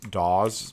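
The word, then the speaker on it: DAOs: people who complain that i mispronounce daws because i tend to say it with a z zed sound instead of an s sound you know it it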